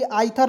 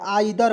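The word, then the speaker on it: either: आई टी एच ई आर तो इसे पढ़ेंगे आथर नहीं पढ़ेंगे आइ दर पढ़ेंगे दोस्तों आइ दर ई आई का उच्चारण आई के रूप में करेंगे और टी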